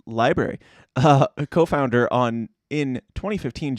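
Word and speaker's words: LBRY: from a company called library pronounced library a co-founder on in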